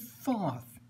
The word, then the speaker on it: Thoth: Thoth top thought out there are 175 thousand ways to pronounce it we're going with Thoth personal preference beautiful deck my